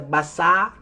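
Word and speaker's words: Bassaa: Lorsque nous doublons la voyelle, nous donnons le son R. Parce que c'est Bassar.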